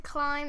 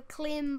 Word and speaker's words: climb: Because climb is spelled with a B, so climb up.